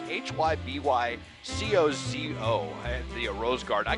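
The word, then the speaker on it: Hybycozo: fuen sparkling geometric installations from uh it's you pronounce this hi by Koo it's hyb co zoo and the rose Gard I can attest that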